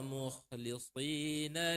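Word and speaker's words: مُخْلِصِينَ: Kemudian, hamas atau jahr? Mengalir nafas atau tertahan nafas? Mengalir. Jadi, mukhlisin, alirkan dulu kha-nya.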